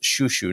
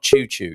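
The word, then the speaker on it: chuchu: so that's chu c-h-u-c-h-u pronounced shushu not choo-choo you don't sound like a a steam train um you pronounce it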